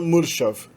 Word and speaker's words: mršav: quanto no alfabeto cirílico, é o uso do R com uma vogal R. Então a gente tem, por exemplo, bagagem é pronunciado prtljag. A palavra topo, cume, é pronunciado vrh. E a palavra magro é pronunciado mršav. Meramente coloca-se o R e a gente já sabe que esse R é o núcleo da sílaba.